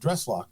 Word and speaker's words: Dreslough: And then took the dress part from dresser and made the name Dreslough. So it's lock. It's a hard K at the end because it comes from the Irish name McLaughlin.